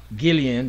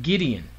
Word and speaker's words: Gideon: And I did pronounce that Gillian, but Gideon with a D.